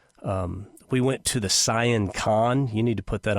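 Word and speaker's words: Sian Ka'an: excursions snork fishing um we went to the cyan con you need to put that on your bucket list it's pronounced s i a n k a an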